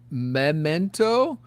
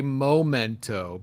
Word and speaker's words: memento: I often well actually purposely mispronounce words like Danae uh like uh Memento I say momento because oh really okay